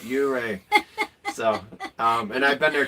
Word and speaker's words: Ouray: Plus, I just now started pronouncing it right, Ouray.